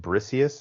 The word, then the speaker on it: Briseis: Number one, Rose Byrne in it as is it Briseis? Is that how you pronounce her name?